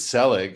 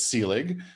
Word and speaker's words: Selig: second most common um it's the most common mispronunciation of my name and people have mangled it in so many more worse horrid and offensive ways that if someone says selig it's really no big deal it's sealing but uh but but